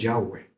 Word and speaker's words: Yahweh: Lo que sabían era que Dios se llamaba YHWh, así como Yahweeh. Por por pronunciarlo decimos Yahweh, pero estaba lejos a 2 millas, a 3 pun 2 km de distancia de ellos.